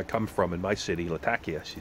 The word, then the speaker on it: Latakia: Probably not, because she said foreigners call it Latakia, but people from where she's from, her city's called Latakia.